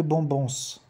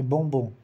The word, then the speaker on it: bombons: Lembra, gente, que o S do plural do bombom não se pronuncia, não é bombons, é bombom.